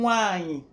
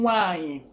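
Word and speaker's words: nwanyị: Sister is pronounced one name nwanyi, one name nwanyi.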